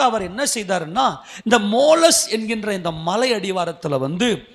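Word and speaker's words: Tmolus: எங்க இருக்குது அப்படின்னு சொன்னாக்க மோலஸ் அப்படின்ற ஒரு மலைகள் ஒரு மலைகள் சூழ்ந்த ஒரு இடம் மோலஸ் மோலஸ் மோலஸ் அந்த இட் வந்து சைலன்ட்ல உச்சரிக்கணும் அந்த வார்த்தை மோலஸ் அப்படின்ற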